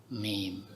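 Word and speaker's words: ميم: Ini bacanya alif lam mim. Ya, cara bacanya begini.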